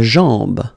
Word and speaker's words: jambe: La jambe, la jambe. Okay, remember, A-M, when you combine these two, basically it's just like A-N, so it's nasal and it's en. Okay, so you get la jambe.